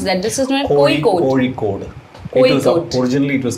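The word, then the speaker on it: Kozhikode: where was how to pronounce that this is cod originally it was called calic by the by the English okay then the the the native name or the malayali name is kod and this is where wasama uh stepped in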